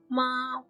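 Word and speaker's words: 馬: ma ma means horse its pronunciation is ma is the third tone from ma to ma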